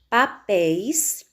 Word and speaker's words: papéis: Exemplos de oxítonas terminadas em ditongos abertos, nós temos papéis, papéis, sílaba mais forte, pés, terminou no ditongo aberto, ei ou eis, por isso deve ser acentuado.